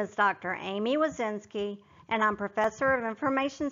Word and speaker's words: Woszczynski: Amy Wazinski and I'm Professor of Information Systems at Kennesaw State University, and I'm excited to be the teacher for your course.